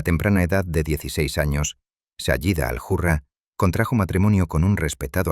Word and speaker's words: Sayyida al-Hurra: Comenzaron a referirse a ella de manera exclusiva como Sayyida al-Hurra, pronunciado Sayyida al-Hurra, un honroso título que significa literalmente la dama noble, libre e independiente.